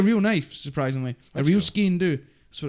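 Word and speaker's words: sgian dubh: gave me a real knife surprisingly a real SK do that's what it's called that's how you pronounce it SK do it's not spelled like that um okay it's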